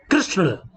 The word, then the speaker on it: कृष्ण: अब री, री का री इसमें लगा तो कृषि, कृष्ण। हिंदी में इसका उच्चारण री के रूप में किया जाता है, कृषि, कृष्ण।